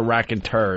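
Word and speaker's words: Raconteurs: of it e RS I believe it's tours prob rack and tours R that's what I thought it is an oldie word cuz it's far as my English studies go that's how I would pronounce that word but I was told that last minute no I'm sure it's the rack and tur isn't it someone who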